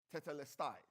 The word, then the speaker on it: tetelestai: You know, that word, it is finished, comes from a Greek word that is pronounced tetelestai.